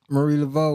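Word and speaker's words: Marie Laveau: in the blood right yes so Marie Lavo Marie Lavo was the baddest voodoo priestess is that how to pronounce it yes Priestess in in history and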